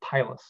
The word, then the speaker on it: pilus: occurs across something called a sex pilus, or some people pronounce it pilus.